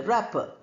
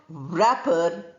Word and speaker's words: wrapper: can be called a wrapper. But pronunciation, not wrapper, but wrapper.